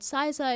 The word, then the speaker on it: Xyza: I mean, people pronounce it as XYZA, but it's always been Xyza to us.